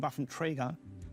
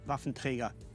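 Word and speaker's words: Waffenträger: I'm biased here and when I hear myself seeing buffum trigger sounds actually very odd to me I should say rafentrega that's the only way how to pronounce it enough of trigger that's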